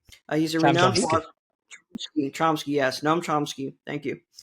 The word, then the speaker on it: Chomsky: Chomsky, yes, Noam Chomsky.